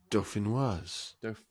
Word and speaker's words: dauphinoise: Or Dauphinois. Actually, I think you're right. You don't pronounce it yet. It's Dauphinois. Yeah. Dauphinois, yeah, potato. I don't think I've even spelt it correctly, but it's Dauphinois.